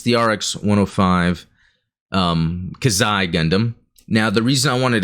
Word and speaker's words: Xi Gundam: And I just the other day got myself the Robot Spirits Kazai Gundam, and if you watched or listened to the last podcast, I learned how to pronounce it properly.